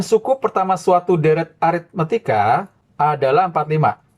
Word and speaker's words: aritmetika: Jumlah n suku pertama suatu deret aritmetika adalah 45. Ini aritmetika ya bakunya. Kebanyakan orang salah aritmatika. Itu nggak baku. Itu salah ya pengejaannya. Harusnya aritmetika. Ini yang benar.